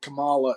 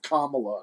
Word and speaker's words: Kamala: you don't say it then it's like saying Kamala instead of Kamala you're immediately a racist or a horrible person